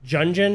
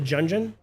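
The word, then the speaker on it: Gungeon: Um, it's not Gun. It's like Junjun or something like that. Enter the Jungeon.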